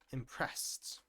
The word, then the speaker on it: impressed: And here's another one, impressed. Impressed also has a T sound at the end.